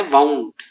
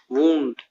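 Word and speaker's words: wound: Next वर्ड है वाउंड, वूंड, दोनों pronunciation सही है इसके।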